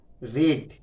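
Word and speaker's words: read: যায় বলেছিলাম আগে, হ্যাড, তারপর রেড, রেড, তৃতীয় ফর্মটা, বানানটা একই কিন্তু উচ্চারণটা আলাদা।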